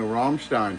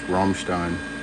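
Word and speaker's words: Rammstein: Is Teni a Romstein fan? You notice I say that correctly, too. Not butchered like you hear most American culture. They'll call it everything but that. It's Ramstein.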